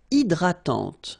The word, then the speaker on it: hydratante: Une crème hydratante. So remember, H is not existing, and then this Y is pronounced like I. Hydratante. Okay, don't insist on the final E, and this is nasal. Hydratante.